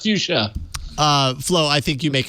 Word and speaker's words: Fuchsia: Clearly, it's pronounced fuchsia.